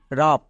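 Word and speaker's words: wrap: আছে আর থাকার জন্য ডব্লিউ সাইলেন্ট তাহলে এর উচ্চারণ কি দাঁড়াবে আর এ পি রাফ তাহলে কি মনে রাখবো কোন ওয়ার্ডের শুরুতে যদি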